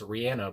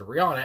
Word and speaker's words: Rihanna: I've heard of Rude Boy by Rihanna, which I think her name's supposed to be pronounced Rihanna, but I've always said Rihanna.